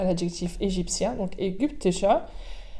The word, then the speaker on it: ägyptischer: De nouveau, l'accord du masculin à l'adjectif égyptien, donc ägyptischer. Attention à la prononciation du Y, ägyptischer. Le Y en allemand se prononce presque comme un U.